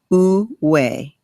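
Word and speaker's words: 无为: There is a term, it's a Chinese term, wu wei. Wu wei. It is spelled Woowei.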